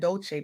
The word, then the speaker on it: Dolce: I'm your host, Dolce, pronounced dolce like sweet softness whispered in French.